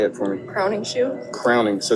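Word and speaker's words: Crowningshield: Crowning shoe. Crowning. So spell it again.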